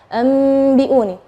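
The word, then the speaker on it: أنبئوني: Nah, tapi ketika kita membacanya anbi'uni terjadi khilaf antara misalnya ada yang bilang bibirnya terlalu ronggang, diun, atau merapat. Itu yang mana sih yang benar? Nah, yang benar adalah kita merapatkan bibir, tapi jangan terlalu menekan, enggak.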